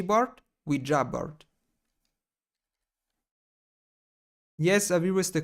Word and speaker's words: Ouija: It's Ouija board, not Ouija board, Ouija board.